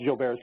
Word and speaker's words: Gilbert: I tell the parents, Gilbert's syndrome, because it's pronounced Gilbert's, but it's spelled Gilbert's, and I tell them